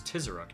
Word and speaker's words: Tizheruk: It's Tizaruk, not Tizurku.